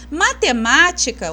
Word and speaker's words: matemática: Matemática, o acento tá na sílaba antepenúltima, tá?